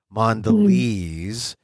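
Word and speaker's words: Mondelēz: the you know the the mark over the E so you know it's a long e mandes lez mandes they they're the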